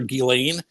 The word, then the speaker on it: Ghislaine: Am I pronouncing Gillan correctly? Well, well, that's how the family pronounces her name. Uh the the media for the most part calls her Gileain, but we can call